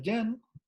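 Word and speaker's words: 人: Esto se pronuncia yan y quiere decir persona y emula lo que sería una persona de cierta manera.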